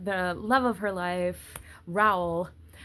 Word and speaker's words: Raoul: love of her life, Raoul. And I will forever want to pronounce it Raoul. But in the movie, they said Raoul.